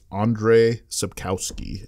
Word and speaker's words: Andrzej Sapkowski: I don't you know totally kill it it's Andrzej Sapkowski okay author on it so very good it's